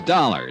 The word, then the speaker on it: Dollar: It's Dollar, Johnny Dollar. Dollar, huh? Yeah, it rhymes with collar.